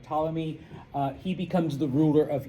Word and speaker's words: Ptolemy: Okay, his general Ptolemy. Okay, and that's where you see the Greek influence. If all of those English words that have a P and you don't pronounce it, those are all Greek.